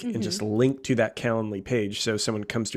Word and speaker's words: Calendly: services out there but calendly so literally spelled like calendar but lee caland lee um it's an app